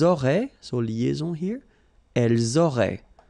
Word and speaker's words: auraient: And then look, if you've got A-I-E-N-T, then phonetically it goes like aurait. Okay, so phonetically you've got aurait here, aurait, aurait, and here as well, aurait. Okay, so it's quite easy to produce orally.